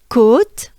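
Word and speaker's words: côte: you will a mount a hill could is pronounced by making a droopy face you drop your jaws your mouth your lips and it should sound like it's very droopy uh so again i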